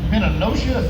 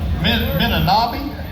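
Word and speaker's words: Menomonee: Entry number 767 goes to Harold Orlerman from Minnenosha Falls. Is that how you say it? Menominee.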